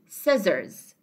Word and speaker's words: scissors: Okay, the pronunciation of it is S as well. We don't say ska or something like that. It is said to be scissors. Similar to scenario and accent.